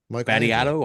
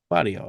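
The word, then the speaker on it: Batio: Michelangelo Battiato? I don't know. Badio. Come on, man. You're Italian. Badio. Come on. What the fuck? I added a little like Battiato. How you say it? Badio.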